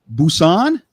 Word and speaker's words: Busan: how's it pronounced Busan Busan uhhuh like like boots on I got my boots on well yeah kind of close to that Bo on oh okay